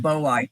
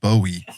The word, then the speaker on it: boiei: Yeah, Heteropoda boiei. Yeah. I was always, I think I pronounced it once in a video, Bowie, and people were like, no, that's not it.